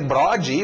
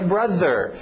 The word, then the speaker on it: brother: chegar para um gringo e dizer brode, ou brother, ele não vai entender isso. Eu tenho que falar a pronúncia certa, que é brother. É estranho, é difícil para brasileiro, porque nós não temos esse TH.